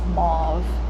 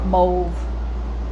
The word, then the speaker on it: mauve: yes it's a gorgeous mauve or mauve some people pronounce it Mo some people say mauve love it I love